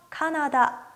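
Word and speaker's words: カナダ: 인도는 발음 그대로 인도 캐나다 는요 카나다 카나다 라고 발음합니다 4 다음으로 보실 단어는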